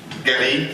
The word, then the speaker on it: Guéry: And we have Guéry, is this pronounced in the right way? Yeah. Guéry, okay, from the OLPC project.